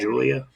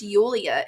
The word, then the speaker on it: Yulia: Did you say Yulia? I think that's how you say it. Not Julia? It's Yulia. It's Eulea. I think it's Yulia.